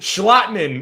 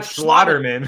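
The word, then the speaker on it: Schlottmann: But let's give a big shout out to Austin Schlotterman, who came in there and looked like a starting Say his name right. Schlotman, not Schlotterman.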